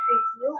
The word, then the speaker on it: review: For example, the word review can be split into re and view. We emphasize the second syllable, the view part when we speak. This means view is stressed.